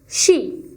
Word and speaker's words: she: طيب the third pronoun، تالت ضمير she. عندنا مين؟ she. ال SH في الانجليش بتتنطق ش. يبقى ال SH في الانجليش بيتنطقوا ش.